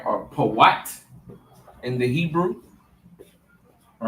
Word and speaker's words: Put: Or Pawat in the Hebrew.